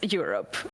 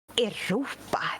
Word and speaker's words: Europe: okay, so you pronounce the band in English and the continent in Swedish. The name is Europe. It's not Europa eller Europa.